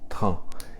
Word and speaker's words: train: T-R-A-I-N, pronuncia-se train. Então, você usa esse trem, esse train, e coloca um vagão aqui na frente também, né? E um vagão atrás. Então fica un train de, essa expressão.